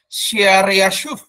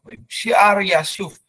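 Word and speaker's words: Shear-jashub: Yang anak yang pertama di ayat Yesaya 7 ayat 3 dikatakan namanya adalah, ini susah sekali membacanya, Shear-Yashuf. Ya. Bahasa Ibrani kurang lebih gitu bacanya. Shear-Yashuf. Shear-Yashuf.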